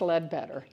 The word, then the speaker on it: Leadbeater: Or either Leadbeater, but I've always heard it pronounced Leadbeater.